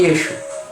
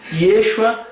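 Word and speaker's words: ישוע: Porém, a letra Ain não se pronuncia quando está no final da palavra do aramaico. Daí o nome Yeshua em aramaico se pronuncia como Yeshu.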